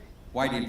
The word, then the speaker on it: Whiting: And at this time, ladies and gentlemen, and speaking of the monument, earlier I mentioned the Whitney family. They're here. Is it pronounced Whiting? Whiting family, thank you.